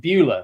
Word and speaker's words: Beulah: Beulah um it's a it's a tricky name to pronounce but if you remember the old American movie Ferris Bueller's big day out it's like Beulah Ferris Bueller Beulah and we are now